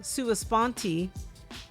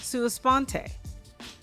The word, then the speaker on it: sua sponte: It’s got a 50/50 pronunciation rate, where half the people say sua spontEE and half say sua spontAY. Both are acceptable in any court of law.